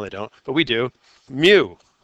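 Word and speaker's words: μ: Mu. Pronounced mu, like a cat.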